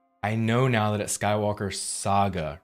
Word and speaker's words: Skywalker Saga: actually is pronounced Saga I've been saying it like the old console the old game system Sega it's Skywalker Saga and I'm going to